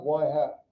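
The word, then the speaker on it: ŷ: x what's your predicted why so this is pronounced y hat okay yeah and this is for this is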